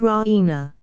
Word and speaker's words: Raina: of good news Raina she pronounces it Rena with the stress on the E Raina she goes to